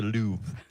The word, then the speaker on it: Louvre: It's just the Louvre The Louvre. as opposed to the Lou.